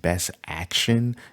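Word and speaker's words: BST AXN: If you're into the BST XAN, which I think is pronounced Best Action.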